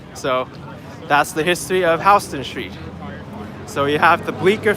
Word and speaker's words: Houston Street: Houston I don't know so anyway jokes aside Houston Street is actually pronounced Houston Street because it was named after William Houston that's